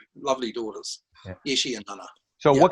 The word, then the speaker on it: Yeshe: as the producer, your daughter, how do you pronounce her name? Yeshe.